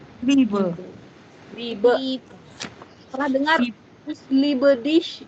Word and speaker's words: Liebe: Ini IE ya, bukan EI. Kalau IE dibacanya I-nya agak panjang. Liebe. Liebe.